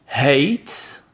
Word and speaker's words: hate: Alors pour le suivant, c'est l'importance de bien prononcer le H ici qui est montré. Vous avez la différence entre hate, qui est le verbe détester.